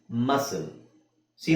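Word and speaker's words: muscle: ನ ಸೈಲೆಂಟ್ ಮಾಡ್ತೀವಿ ಓಕೆ ಮಸಲ್ಸಿ ನ ಸೈಲೆಂಟ್ ಮಾಡ್ತೀವಿ ಇದು ಒಂದು ಎಕ್ಸೆಪ್ಷನ್ ಅಷ್ಟೇ ಸಿ ಆದಮೇಲೆ ಏನಿದೆ ಇಲ್ಲಿಎಲ್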